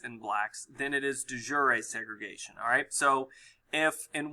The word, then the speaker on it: de jure: have de facto and the other one is pronounced de jure a-alright de facto is